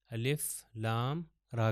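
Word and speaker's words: الر: अलग-अलग करके पढ़ा जाएगा तो इसको अलिफ लाम और रा को अर करके नहीं पढ़ूंगा अलिफ लाम रा करके पढ़ेंगे यह रूफ मुकता में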